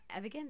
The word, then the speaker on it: Evigan: yeah first of all produced by Jason uh evigan that's how you say it who's worked with